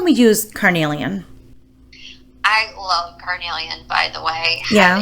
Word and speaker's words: carnelian: Carnelian, I hope I pronounced that right.